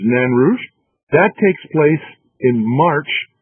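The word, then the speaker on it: Nain Rouge: fact it's the um the nan rouge or the name rouge as some people call it but okay the french pronunciation is nanrush that takes place in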